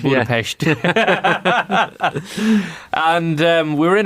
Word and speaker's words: Budapest: Well done on the Pest, by the way, pronouncing it correctly. Very much. Yeah, when you hear locals saying it, you go, oh, right, okay, yeah. So you say it like you're from the West. The West, right. Budapest.